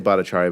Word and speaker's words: Bhattacharya: Bhattacharya, thank you so much for, or how do you say it? Say it for me. I say Bhattacharya, but my cousins think I don't know how to pronounce it, Okay.